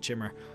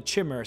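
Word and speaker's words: Chimer: Back then, and we're talking, you know, first era, year 400, the Dwemer used to hate the Chimmer, or the Kimmer. I pronounce it Chimmer.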